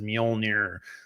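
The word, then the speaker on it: Mjölnir: of it that it's it's m m which is spelled MJ L nir MJ o l n i r is mol yeah more more than half teams half the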